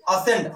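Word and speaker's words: ascend: अब यहां देखिए असेंड, असेंड मीन्स होता है चढ़ना। अब यहां पर सी का कोई धुन नहीं है।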